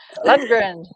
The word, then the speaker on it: Lundgren: Well, my husband's cousin is Dolph Lundgren. So does that tell you? Lundgren.